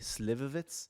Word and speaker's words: Slivovitz: sign your cards am I pronouncing it correctly Slivovitz yes okay I'm getting better